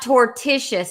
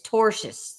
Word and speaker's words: tortious: than never tell me oh it's not tortious it's torous torous torous thank it's just one